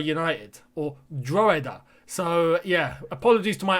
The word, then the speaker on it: Drogheda: on that it's not drug header united they don't pronounce the g i think it's dragada united or droida so yeah apologies to